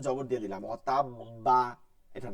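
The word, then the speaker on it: وَتَبَّ: এবার আপনি কলকলা ডাবল করবেন, ডাবল, কলকলা প্লাস কলকলা। তাহলে কি হয়? ওয়াতাব্বা, কি হবে?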